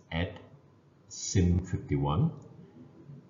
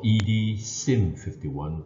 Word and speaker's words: EdSim51: this particular software is known as as ad sim51 or edsim51 depends on how you would like to pronounce it so what is